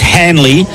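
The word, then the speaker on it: Hanily: It's pronounced it's spelled H A N I L Y, but it's pronounced Hanley the 19year-old is the sub for the Swans.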